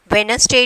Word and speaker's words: Wednesday: Wednesday, D silent letter.